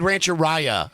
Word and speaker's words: Rancheria: you say I said Rancheria because because I wasn't used to seeing it and finally somebody said to me it rhymes with diarrhea yeah so for the